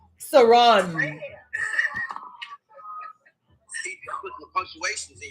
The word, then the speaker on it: Saran: That is 2 African ladies who have told me the proper pronunciation of my name is Saran.